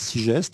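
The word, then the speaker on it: Sigest: c'est les égarés ou c'est aux éditions six gestes comme ça se prononce avec un S six gestes les égarés c'est le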